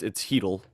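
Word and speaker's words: Chytil: It's spelled Chittle. If you're one of the people who say it that way, it's Heedle.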